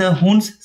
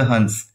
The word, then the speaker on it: Huns: चलिए द हुन्स से start करते हैं। द हुन्स या फिर द हंस, इस तरह से आप प्रोनाउंस कर सकते हैं।